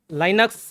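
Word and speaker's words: Linux: की भाषा नहीं है लाइनक्स लिनक्स अलग-अलग प्रोनाउंस करते हैं तो यहां पर मैं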